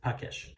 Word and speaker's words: Pakeshi: So Pakesh, that's how it's pronounced, Pakesh.